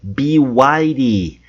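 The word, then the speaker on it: BYD: chinesa de carros excelentes, mas a pronúncia é be widy. Be widy, build your dreams.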